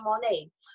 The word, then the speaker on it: Monet: co-host, my oldest daughter, Monet Patterson. Monet Patterson, M-O-N-E-T, a little asterisk over the E, the T is silent. Thank you. Okay. Okay, great, fantastic. So now you know Monet.